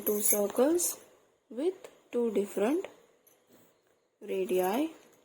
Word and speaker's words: radii: Okay, we have drawn two circles with two different radii. The plural form to pronounce radius is radii, not radiuses.